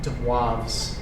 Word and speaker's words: De Moivre: I don't know if I pronounced the name of the formula, but that's pronounced um De Moivre's theorem.